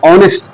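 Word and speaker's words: honest: पे एन क्यों लगाया, क्योंकि यहाँ पे जो एच है वो आपका करता है ओ से साउंड करता है, ऑनेस्ट।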